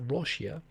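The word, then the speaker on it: ロシア: You'd say "ya" on the end, which of course sounds like in Japanese, Russia is pronounced Roshia, and if you put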